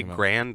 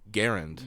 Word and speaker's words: Garand: mean people who say grand they're just missing us they're missing a vowel right well and it's actually pronounced garand garen because the guy who's